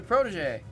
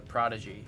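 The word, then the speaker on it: Protegé: like, "Oh, it's a protege. It's a protege. It's a protege." Okay. And then anyone that's never seen the car before, they'll just read it as a prodigy.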